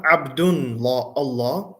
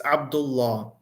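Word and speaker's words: عبد الله: Abdullah. It's not Abdun Allah, it's Abdullah.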